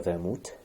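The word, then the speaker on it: Wermut: Pues bien, Vermouth es justamente la palabra alemana para ajenjo, que viene, bueno, originalmente en alemán se escribe con W, pero se pronuncia Vermouth.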